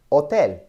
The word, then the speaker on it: hotel: H makes no sound. It is a silent letter, H. So whenever you see an H in Spanish, just know that it's silent, like hotel.